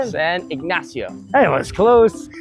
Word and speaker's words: Ignacio: San Ignacio. Hey, it was close. San Ignacio. That's still not right. How do you say it? Try it one more time. You got it. San Ignacio.